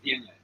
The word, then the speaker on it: Viognier: So you've got 71 Syrah percent, Grenache 11, Cinsault 9, Cabernet 8, and how do you pronounce Viognier? Viognier, yeah.